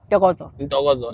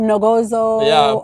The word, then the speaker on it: Ntokozo: Ntokozo. And your husband can pronounce that very well. Ntokozo. Now they can. Everybody in the house now they can. Some people say they call him Nogozo.